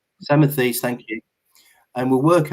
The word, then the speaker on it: Samothrace: So I'd like to start this evening by examining the earliest British monarchs from, I think I can pronounce this correctly, Samothrace. Is that right? Samothrace, thank you.